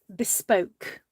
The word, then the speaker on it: bespoke: industry as bespo bespo it's spelt bespoke okay but it's called bespo and it's the idea